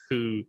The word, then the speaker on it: Hu: So first of all, my Chinese pronunciation is worse than some of my other ones. Yeah. But they pronounce it more like ho than right, like okay. Hu Yeah. or something.